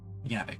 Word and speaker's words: Javik: Bring Javik. Yavik, my bad. It's so weird that J can sometimes just be pronounced as a Y.